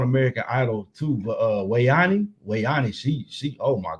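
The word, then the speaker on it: We'Ani: gosh you hear yeah Wayan it's spelled we and it's a it's space we hyphen or not hyphen but apostrophe we Apostrophe a ni I her name Wayan and she got like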